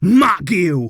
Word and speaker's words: Marc Guiu: upon could we actually see in this game Mark Gil which I am reliably informed is the correct pronunciation G it is a difficult one I